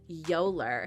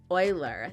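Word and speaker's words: Euler: some fans pointed out Gerald mispronounces it as yoler instead of Oiler the correct pronunciation naturally we all expected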